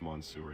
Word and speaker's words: Monsieur: It's actually pronounced Monsieur, not Monster. I didn't say monster.